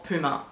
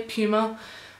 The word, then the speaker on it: Puma: Tell me how you say it, Puma or Puma, because I say Puma only because Puma sounds like poo.